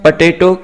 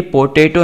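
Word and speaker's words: potato: यहाँ पर देखिए अक्सर स्टूडेंट इस वर्ड को प्रोनाउंस करने में मिस्टेक करते हैं, मिस प्रोनाउंस करते हैं, पी ओ टी ए टी ओ, ये पोटेटो नहीं है बल्कि इसकी जो सही प्रोनंसिएशन है ना वो है पटेटो, पटेटो, इस तरह से आपने प्रोनाउंस करना है, पटेटो केक यानी कि टिक्की।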